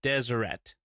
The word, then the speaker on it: Deseret: episode PS Deseret is pronounced with the hard t at the end Deseret I grew up in